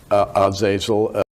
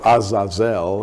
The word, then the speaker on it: Azazel: Well, J.R., one of the fallen angels was called Azazel, or Azazel, it would be pronounced in the Hebrew.